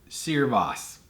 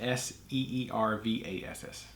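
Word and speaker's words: searbhas: yeah Cerre boss is the Irish word for bitterness pronounced seer boss looked like sir bah ha so yeah it's spelled like Sears s CA r bh a s pronounced s ee r Vass so your boss that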